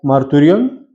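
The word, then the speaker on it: μαρτύριον: del G 31 42 que se pronuncia marturion.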